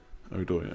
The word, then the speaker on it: Odoi: Is it Hudson Odoi? Odoi.